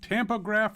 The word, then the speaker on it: tampograph: But now we're doing, is it tampograph or tapograph? Tampograph. Tampograph.